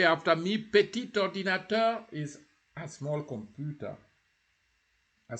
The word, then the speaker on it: petit ordinateur: We remember we talked about petit. When the word adjective, petit, is isolated, petit, you don't pronounce the T. But here you say petit ordinateur. You join. Petit ordinateur.